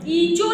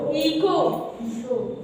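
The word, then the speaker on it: echo: पढ़ोगे our next इको इ चो नहीं पढ़ोगे समझ रहे हो इ चो पढ़ दो क्या पढ़ोगे इको है ना बेटा आ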